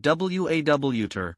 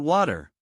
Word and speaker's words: water: Last tip, water sounds like water, with a clear T, not water.